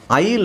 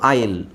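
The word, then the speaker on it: aisle: ಎಸ್ ಎಲ್ ಅಂತ ಇದಿಯಾ ಎ ಐ ಎಸ್ ಎಲ್ ಇ S silent ಆಗಿರುತ್ತೆ ಎಸ್ ಅನ್ನ ಉಚ್ಚಾರಣೆ ಮಾಡೋಂಗಿಲ್ಲ ಬರೀಬೇಕಾದ್ರೆ ಮಾತ್ರ ಬರೀಬೇಕು ಈ ಸೈಲೆಂಟ್ ಆಗಿರುತ್ತೆ ಸೋ ನಮಗೆ ಉಳಿಯೋದು ಉಳಿದಿರೋದು ಬರೀಬೇಕಾದ್ರೆ ಹಿಂಗೆ ಬರೀಬೇಕು ಬಟ್ ನಾನು ಉಳಿದಿರುವ ಅಕ್ಷರ ತಗೊಳ್ತಾ ಇದೀನಿ ಉಳಿದಿರುವ ಅಕ್ಷರಗಳು ಇದು ತಾನೇ ಉಳಿದಿರೋದು ಬಟ್ ಇದನ್ನೇ ಓದಬೇಕಾದರೆ ನಾವು ಹೆಂಗೆ ಓದಬೇಕು ಐಲ್ ಅಂತ ಓದಬೇಕು ಉಚ್ಚಾರಣೆ ಇದರದ್ದು ಆಯಿಲ್ ಓಕೆ ಇಂಗ್ಲಿಷ್ ಅಲ್ಲಿ ಆತರ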